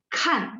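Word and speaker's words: 看: Kalau misalnya yang nomor 6, teman-teman lihat K baca KH, berarti kan. Nah, dia nada 4, jadi kan melihat, nada 4 ya, kan.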